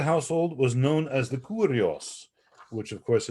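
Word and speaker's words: κύριος: was known as the curios which of course in modern greek and church greek is pronounced kirios this is the as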